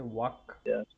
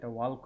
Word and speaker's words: walk: আরেকটা হচ্ছে আপনার যেটা কমন মিস্টেক হয় সেটা হচ্ছে ওয়াক। এটা ওয়াল্ক হয়ে যায় মাঝে মধ্যে, প্রায় হয়। ঠিক আছে। সো গত দিনের চাইতে আজকে এই মানে প্রোনাউন্সিয়েশন মিস্টেকের সংখ্যাটা কম, যেহেতু পড়ছেন রেগুলার। বাট ওয়াকের মধ্যে কোনো এল নাই, মানে উচ্চারণের সময়।